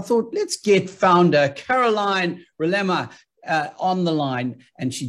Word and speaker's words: Rilema: let's get founder Caroline Rilema on the line, and she joins me now. Welcome, Caroline. Did I get your surname pronunciation correctly? It's actually Rilema.